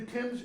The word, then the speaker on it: Thames: are supposed to right it's not pronounced Dames by the way it's the Tim's River make those flights hmm